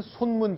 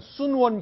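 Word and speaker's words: 孫文: 지금 화면에 보이는 건 제 대만에 있는 손문 기념관, 순원 기념관, 중국식 발음으로는 그렇게 부르는데 이제 중국 신의 혁명을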